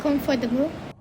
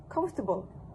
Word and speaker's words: comfortable: Here, the participant added the extra schwa sound between the t and b sounds, resulting in 4 syllables instead of the 3 in the reduced Oxford form.